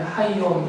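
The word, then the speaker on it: הַיּוֹם: 히브리어로 그는 하라고 해요. 하. 그리고 날을 말하는 단어는 용 그러죠. 그래서 하용이에요. 그러니까 이게 붙여서 있기 때문에 하용 이렇게 발음이 나죠.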